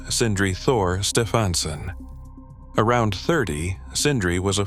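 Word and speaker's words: Sindri Þór Stefánsson: Sindri Thor Stefansson, pronounced Sindri Thor Stefansson.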